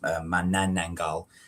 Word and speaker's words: Manananggal: Basically, the monster in question is, as you can see there, particularly sort of disturbing beast from Filipino folklore called Manananggal, or it's pronounced Manananggal.